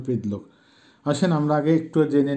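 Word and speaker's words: предлог: কা, ই, সে এগুলি হচ্ছে রাসায়ন ভাষায় প্রিপজিশন অব্যয় বা রাসায়ন ভাষায় যেটাকে বলে প্রিদলোক উচ্চারণ হবে প্রিদলোক।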